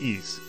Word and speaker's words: Ys: just remember it's very easy pronounced ease this week immediate Delta